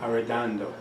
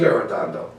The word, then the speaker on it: Arredondo: Arredondo. He was Arredondo.